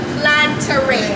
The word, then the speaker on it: Planteray: So as of this day of filming, we just recently announced our name change from Plantation Rum to Plantaray. That's how it's pronounced.